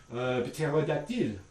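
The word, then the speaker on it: ptérodactyle: But in French, they're actually pronounced. So it's going to be something like pterodactyle, ptero, or psychologie, right? So you're going to find that these are pronounced, but they're invariantly voiceless in these contexts.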